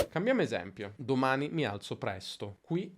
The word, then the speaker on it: presto: presto e la sillaba accentata è press. Senti come rispetto a domani alzo e molto presto è leggermente più lunga. Domani mi alzo presto. Presto. Domani alzo presto. Quindi si allunga leggermente la sillaba press, nello specifico la consonante s.